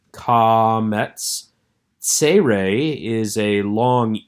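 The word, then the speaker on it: קמץ: This is comets, using the A sound from father, comets.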